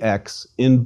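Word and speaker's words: ξῖ: Xi is a double consonant equivalent to X, that is a K and S sound, and pronounced like the X in box.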